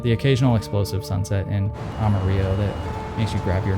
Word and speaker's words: Amarillo: Next stop is Amarillo, that's how you say it, in Texas.